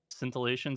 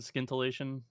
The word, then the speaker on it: scintillation: the scintillation of Genius s c i n t i l l cation scintillation scintillation sure yeah I don't know it's a soft C all right is like